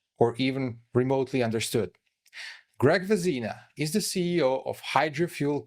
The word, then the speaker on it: Vezina: Actually, my name is pronounced Vezina, same as the great hockey trophy, the goalie trophy for the best goalie in the NHL.